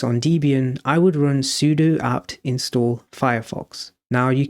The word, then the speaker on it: sudo: you may notice this sudo here before the actual command. Sudo or sudo stands for super user do. It should be pronounced sudo, but sudo sounds just more powerful, so I'll stick with that.